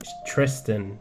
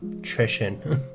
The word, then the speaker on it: Tristan: So we're Tristan, not Trishan.